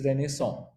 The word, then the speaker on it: Renaissance: It's spelled as Renaissance, but it's Renaissance.